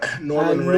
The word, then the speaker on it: Norman Ray: Norman Ray. Norman Ray. As in these Norman, as in the people who conquered England. And Ray, as in the thing that shoots you in the eye.